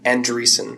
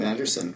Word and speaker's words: Andresen: How do you say your last name? Andresen. Andresen. Yeah. Okay. I've been calling you Anderson for everyone calls me Anderson.